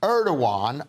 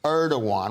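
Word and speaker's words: Erdoğan: even though they're suffering from incredibly High inflation erdogan erdogan which is the way you pronounce his name says the turkey has chosen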